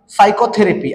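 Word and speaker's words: psychotherapy: पद्धतीने करायचा आहे त्याच्यानंतर पुढच जे एक्झाम्पल आहे सायकोथेरपी आणि सायकोथेरेपी हा शब्द वाचन करताना यातल पी हे लेटर आपलला सायलेंट ठेवायचा आहे आणि सायकोथेरपी अशा पद्धतीने याच वाचन आपलला करायच आहे लक्षात घ्या तर अशा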